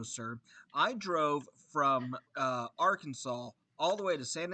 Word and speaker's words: Arkansas: the seagulls in arkansas it's our kansas arkansas look at how it's spelled r with kansas stephanie says wakita she